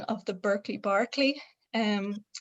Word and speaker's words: Berkeley: the pronunciation of the berkeley barkley um i do say barkley but it's more because if you say berkeley it sounds like it's an adjective and it's like burke like edmund burke like so something